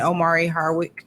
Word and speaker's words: Omari Hardwick: And Omari Hardwick. Is that how you Yes. pronounce his name? Mhm. Amari.